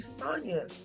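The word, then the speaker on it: Sonja: I'm like, why did you name me Sonia? But now I freaking love it because I'm totally different. It's not a lot of Sonia, especially spelled like my name. So S-O-N-J-A.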